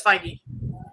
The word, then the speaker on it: Feige: Feige, however you pronounce that gentleman's last name. Say it correctly, Christina. I think it's Feige.